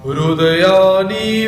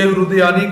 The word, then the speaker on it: हृदयानि: इसका उच्चारण कैसे करना है? हृदयानि ऐसा नहीं बोलना, हृदयानि ऐसा शब्द का इसका प्रयोग करना है, क्योंकि अक्सर हम संयुक्त अक्षरों का जो उच्चारण है वो हम बहुत ही गलत तरीके से करते हैं।